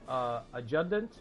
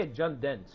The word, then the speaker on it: adjutant: Nobukatsu's got Faithful Adjutant. I don't know how to say that. I say Adjutant with a D, but it's spelled with a T.